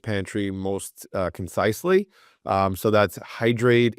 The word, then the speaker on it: Hydr8: So that's Hydr8. It's HYDR, the number 8, spelt phonetically. There's a whole story behind that too. I won't get into right now. And that's .us, as in hydrate us.